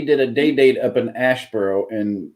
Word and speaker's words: Asheboro: went up we did a day-date up in Asheboro and it's Aspera that's how it's pronounced here um and it happens twofold because